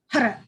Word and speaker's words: Har: It's spelled Har, but you're hitting your tongue on the tip of your roof of your mouth. So it's hara, hara, almost like you're rolling an R if you're speaking Spanish, for example.